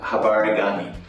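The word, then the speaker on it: Habari gani: No, Habarigani.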